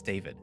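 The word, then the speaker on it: Dawid: it turns out that the W I guess is pronounced like a v um so it's not DOD it's David how was I supposed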